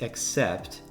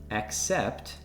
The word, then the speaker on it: accept: The words accept and accept have slightly different pronunciations and very different meanings. Can you hear a difference when I say the words concurrently from left to right? Accept, accept. It's a subtle difference, but it's there.